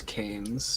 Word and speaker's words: Canes: It's Canes, just to Okay. Okay. specifically. That's the pronunciation. I know that's spelled weird, but it's Old English.